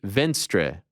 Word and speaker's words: Venstre: He wrote, "Hi, I work as a senior policy advisor in the Norwegian parliament for the Liberal Party Venstre." Am I pronouncing it correctly?